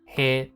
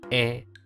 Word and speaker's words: へ: of which two hirana ha and he are pronounced differently when used as grammar words ha becomes wa and he becomes e this is a little